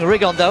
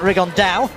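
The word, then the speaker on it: Rigondeaux: T's talked about fighting riondo or as he's correctly pronounced with the uh Spanish accent Ron da and two absolute Geniuses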